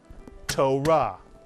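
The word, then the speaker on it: תורה: Here's another word. Torah. Torah. Equal beats.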